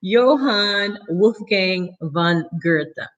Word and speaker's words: Johann Wolfgang von Goethe: died in the eighteen hundreds his name is Johann Wolfgang von Goethe it's spelled goe th Eva looked up the pronunciation son wouldn't miss Johann Wolfgang von Goethe okay so let's read that quote and I